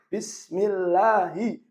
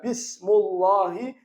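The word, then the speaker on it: بِسْمِ اللَّهِ: Maka bacanya bismi, bukan bismu. Kenapa? Karena dia majrur. Kenapa majrur? Didahului huruf jar. Apa tanda jarnya? Tanda jarnya kasroh. Kenapa kasroh? Karena dia isim mufrad. Jadi bacanya bismi, bukan bismu. Bismillahi, bukan bismullahi, bukan bismallahi.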